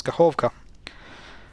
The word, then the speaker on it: Kakhovka: And here emphasis is on O, so it's Kakhovka. So Ka, this is H, Hov, this is the second syllable, and Ka.